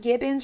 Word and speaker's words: gibbon: They're called gibbons. Rhymes with ribbons.